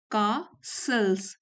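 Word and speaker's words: castles: यहां देखिए कासल्स सेल्स T silent है यहां पे।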